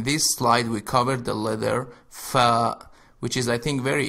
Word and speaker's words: فاء: slide we covered the fa which is I think very easy for you to pronounce because you have it in English and it is pronounced fa like in the word feather in the beginning the